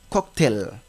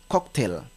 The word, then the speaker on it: cocktail: il y a également le mot cocktail que parfois des personnes lisent comme cocktail par rapport à sa ressemblance avec le mot portail non ce n'est pas le cas ce mot on le lit comme cocktail d'accord il y a également